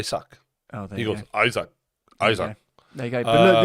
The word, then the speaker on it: Isak: like this right we've got a Swedish pronunciation it's isak e sack you know what's hard is I've seen him say I suck oh there he goes Isaac Isaac there you go